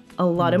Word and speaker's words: a lot of: and then we have the T in lot which is pronounced as a flappy sound so we pronounce it